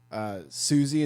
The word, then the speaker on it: Siouxsie: never heard of like Susie and the Screamers like MUNGO JERRY and like Susie is spelled like sio you x SI e siouxsie and the Screamers i never liked sue like she is yeah Native Americans first